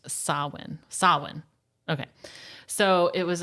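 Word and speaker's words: Samhain: called sawin which is interesting because it's it's spelled like Sam Hayne but it's it's it's uh I guess in um Gaelic it's pronounced sawin sawin okay so it was a pagan religious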